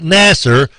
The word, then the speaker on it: Nasser: bit because i mean his name is it rhymes with passer right yes that's right so here we go perfect match dr nasser rhymes with passer knock